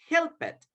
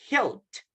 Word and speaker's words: helped: In that case, everybody, with all the voiceless sounds, we pronounce the letters ED as letter T. So we don't say, everybody, help it. Instead of pronouncing letter ED, we pronounce a letter T.